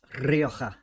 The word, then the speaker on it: Rioja: Comes in at number 5, Ledaig Rioja Cask Finish. Actually, Jeff, it's pronounced Rioja.